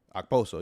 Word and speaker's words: Okposo: Kyle Okposo, I want to say is how you pronounce it. Okposo.